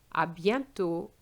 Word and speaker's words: À bientôt: À bientôt. And the T is silent as well.